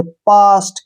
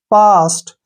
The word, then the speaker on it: past: जैसे एग्जांपल है हमारे पास PAST, ठीक है ना, यहाँ पे ए के बाद क्या आया है, ST आया है तो ए का उच्चारण आ के रूप में करेंगे। पास्ट, क्या पढ़ेंगे इसको, पास्ट।